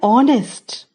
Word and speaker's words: honest: Also we say an honest, as H is a silent letter word.